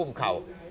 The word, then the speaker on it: กุ้มข้าว: นี้ บ้าน ฉัน เนี่ย เวลา ออก เสียง ต้อง ออก ว่า กุ้ม เข้า นะ กุ้ม เข้า นะ ครับ